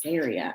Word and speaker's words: Saria: Oh, by the way, if any of you were wondering how to say my name, that's how you say it. It's Saria.